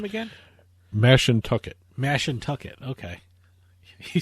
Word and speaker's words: Mashantucket: change by the time this airs, that the Mashantucket Pequot Tribal Nation, which runs Foxwoods, Mohegan Tribe runs Mohegan Sun in Uncasville. Foxwoods has not yet agreed to it. How did you pronounce that name again? Mashantucket.